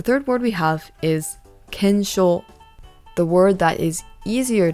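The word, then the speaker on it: 検証: How to pronounce this is kensho.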